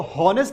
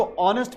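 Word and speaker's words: honest: जब हम ऑनेस्ट बोलते हैं तो एच यहां पर साइलेंट होता है। हम इसको होनेस्ट नहीं पढ़ते हैं। हम इसको ऑनेस्ट पढ़ते हैं।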